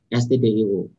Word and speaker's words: stdio: Oke ya, kita mulai kenalan dengan stdio. Bacanya STD, standar, gitu ya. Jadi baca adalah standar.